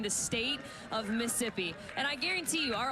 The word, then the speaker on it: Mississippi: our lovely Magnolia State the final ISS is silent that is what I